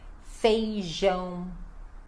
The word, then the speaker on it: feijão: Feijão. Olha só a pronúncia, feijão. Este som nasal no final, então precisa, né, fazer ele certinho, feijão. E o J, né, som de J, então feijão, feijão.